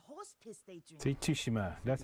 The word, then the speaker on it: Tsushima: See, Tsushima.